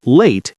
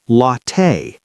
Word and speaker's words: latte: By the way, many learners say latte incorrectly. It's not late, it's latte, like latte.